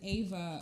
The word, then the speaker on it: Ava: uh my mom's name is eva but i pronounced it ava uh but it's she's like because when she